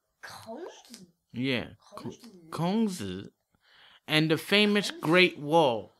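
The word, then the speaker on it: 孔子: They call him, in Chinese, they call him Kongzi. Kongzi?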